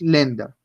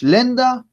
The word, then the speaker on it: Länder: Entonces, por ejemplo, A con umlaut en esta palabra, lenda, no decimos lander, sino que decimos lenda, porque estos dos punticos me acaban de transformar este sonido.